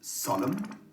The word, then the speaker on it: solemn: really tricky to remember the silent n in the words solemn autumn column and him i remind myself that